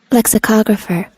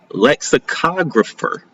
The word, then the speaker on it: lexicographer: Lexographer. Lexographer. A lexographer is a profess is a professional who researches, writes, and edits dictionaries analyzing word usage, meaning pronunciation and history. Okay. Okay. Lexographer. Lexicographer.